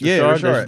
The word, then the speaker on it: Richard: That's how you pronounce it. Richard. There's a little bit of an accent on it.